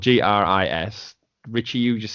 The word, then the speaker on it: Gris: I would say slight a silent s Gris I just think that sounds the best to the free it's likely French with the French pronunciation for the word gray Gris well they're wrong same